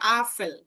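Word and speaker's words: Apfel: আমরা আপেল বলি না, আপেলকে জার্মানে বলা হয় আফেল।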